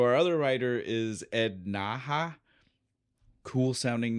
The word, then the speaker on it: Naha: It's n a ha. So there's only so many ways that could be done. And so naha is how I'm going.